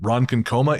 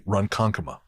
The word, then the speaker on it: Ronkonkoma: I think we called it Ronkonkoma. It is apparently Ronkonkoma. So we apologize to the people of Long Island. Your long national nightmare is finally at an end. Ronkonkoma's honor is restored.